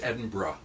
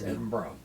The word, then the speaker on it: Edinburgh: brings to Emerson well um Edinburgh Scotland which pronounced Edinburgh by the way by the locals that was the first thing I learned sorry Sebastian it's Edinburgh right who was the St Andrews guy so